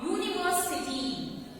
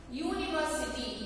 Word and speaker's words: university: See, university. U is a vowel sound, but here I am using a because university U anta pronounce aguvaga adu consonant sound agutte. See, vowel letter but sounds like consonant Y.